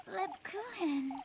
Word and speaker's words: Lebkuchen: Lebkuchen.